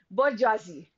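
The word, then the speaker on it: bourgeoisie: r g e o i s i e bji this is the middle classes the next is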